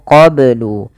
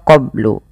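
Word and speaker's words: قَبْلُ: Kemudian melafal qablu ini banyak harus dipantulkan karena ia ada bacaan qalqalah. Maka bacanya adalah min qablu. Kesalahan yang terjadi dalam membaca qalqalah tidak memantulkannya, contoh qablu, atau menambahkan hamzah qablu.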